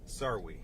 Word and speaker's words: Sawri: Lieutenant, how do you pronounce your last name again? Sarwi. Sarwi.